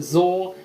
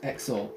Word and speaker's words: XOR: this is called an xor gate some people pronounce it Zor I did for a while but then I learned that it is supposed to be pronounced xor now I can't remember the reason right now